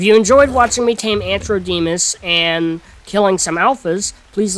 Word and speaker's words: Antrodemus: upgraded allos, I believe their name is pronounced Antrodemus, Ant and then Ro, like O-R. No, not O-R. R. It would be R-O. It'd be the opposite of what I said.